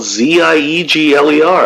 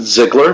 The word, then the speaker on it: Ziegler: my name is spelled z-i-e-g-l-e-r i pronounce it ziggler most people say ziegler but i get it i don't maybe i'm a prick about it i'd prefer if you took the german off that who wouldn't uh okay